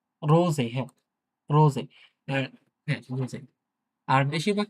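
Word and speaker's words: Rose: আর বেশিরভাগ ক্ষেত্রে, হ্যাঁ, বেশিরভাগ ক্ষেত্রে এস কিন্তু ইংলিশের এস, ডয়েচের এসটা কিন্তু হচ্ছে যে অনেকটা বাংলায় বর্গীয় জ থাকে না? কিছুটা বর্গীয় জের মতো আরকি উচ্চারণ হয়, হ্যাঁ?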